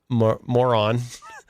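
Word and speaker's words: Morón: The Rota Naval Station in Moron is how you say it, but I'll just call it Moron Air Base, for any combat, refueling, or staging missions related to the Iran conflict.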